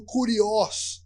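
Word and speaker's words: κύριος: palavra ele está dizendo uma palavra no grego que esse pronuncia dizendo curió é o senhor o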